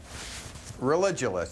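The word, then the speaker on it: Religulous: name of your movie it's religionist it's like you're saying religion and then you go to ridiculous for obvious reasons well speaking of which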